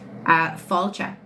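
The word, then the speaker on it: fáilte: Pronounce the phrase welcome. Falcha.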